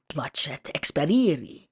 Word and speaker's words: placet experiri: Placet experiri, he said, pronouncing the sea of placets with the soft Italian ch.